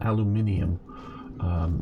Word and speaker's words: aluminium: So it's not a correct and incorrect pronunciation. It is two different words, aluminum and aluminium.